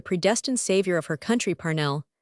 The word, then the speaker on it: Parnell: Parnell, she said, with a strong accent on the first syllable, is the man of destiny.